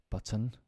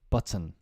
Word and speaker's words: button: right before we end words with a t that is could often not pronounced button Mountain certain curtain Fountain important we typically don't pronounce the T in these words instead we cut the